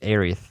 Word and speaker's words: Aerith: over to the US they changed it to Aerith, which is kind of how I and most people know of her. Yes. But in the trailer they used Aerith, the correct way. The Japanese, original way.